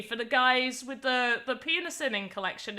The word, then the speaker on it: PINASining: Penasinning collection. I'm gonna pull. Perfect. That is so perfect. Good job. Oh yeah. You pronounce it very well.